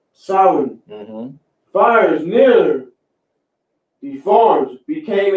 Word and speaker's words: Samhain: It's pronounced Samhain. Samhain.